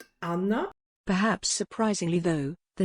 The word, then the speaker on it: Anna: do a word-by-word translation anna is spelled the same but pronounced differently amna perhaps surprisingly though the